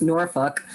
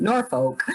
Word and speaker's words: Norfolk: you know even after donna told me it's really pronounced norfolk uh more like that like i just can't bring myself to say that it's always been norfolk so i have a